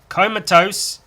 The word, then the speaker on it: comatose: essential other way around but it's comatose tomatoes comatose tomatoes komatos you know a while ago i did the whole like jesus rhymes with penis kind of comatose is similar to tomatoes kind of yeah you